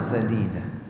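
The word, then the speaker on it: سديدا: ayat ini, waqul qawlan sadida, dan bertuturlah kalian dengan ucapan yang lurus, baik, bermanfaat. Jangan sampai salah baca ya, Pak. Ini bacanya jangan pakai shin.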